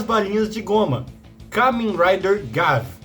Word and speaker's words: Gavv: Depois do sofrido Kamen Rider Gotchard, chegou finalmente o Kamen Rider das balinhas de goma, Kamen Rider Gav, que na verdade se pronuncia Gab.